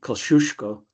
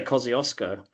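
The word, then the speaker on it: Kosciuszko: Australians can't handle Polish. It's it should be Kosushko. Koshusco, sorry. But we say Kioskco.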